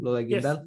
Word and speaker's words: Lola Guindal: Is that how you pronounce her name? Lola Guindal? Yes, great.